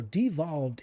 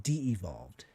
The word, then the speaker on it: devolved: All right, so devolved is the correct way to say the word, not de-evolved. There's no extra E in there.